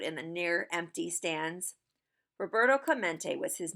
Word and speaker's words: Roberto Clemente: mate it echoed in the near empty stands Roberto Clemente was his name and this is pronounced Roberto Clemente as if to introduce himself Roberto smacked the